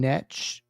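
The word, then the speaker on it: Knecht: Maybe Dalton Netch. That's how you pronounce his name.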